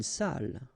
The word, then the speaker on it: salle: Une salle. Okay, so even if you get the double L here, it will be still the same pronunciation as this one.